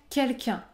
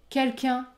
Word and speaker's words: quelqu'un: quelque chose à dire je ne prononce pas le N à la fin du mot quelqu'un huitième cas la liaison